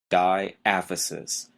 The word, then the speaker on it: diaphysis: the first term is diaphysis d-i-a-p-h-y-s-i-s diaphysis notice the stress is on the second syllable it really doesn't sound like it looks well what is a